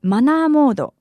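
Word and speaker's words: マナーモード: And by the way, in Japan, vibrate mode is often called manner mode or manamodo, pronounced in Japanese. If someone comes up to you saying manamodo, manamodo, that means they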